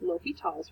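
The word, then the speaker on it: L'Hôpital: And I'm going to make this notation that I use L'Hopital's rule. It's just spelled like hospital. It's just not said like hospital.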